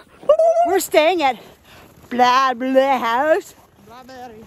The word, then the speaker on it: Blåbær-li: Blåbær-li house. Blåbær-li house. That's how you pronounce it in Norwegian, because I'm spot on.